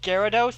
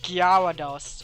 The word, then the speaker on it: Gyarados: wrong what no no they say instead of Gyarados they said dr-dos or some fool like they honestly have